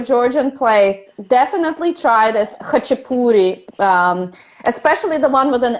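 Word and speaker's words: khachapuri: k k h a c h it's called hachipuri it's pronounced and if you ever go to a georgian place definitely try this hachipoori especially the one with an a a geruli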